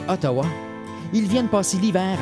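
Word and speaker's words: Outaouais: Leur nom est prononcé Otawa.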